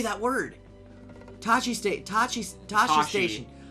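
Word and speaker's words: Tosche: Tashi Tashi. station. I keep wanting to say it with a hard C. Like Tachi.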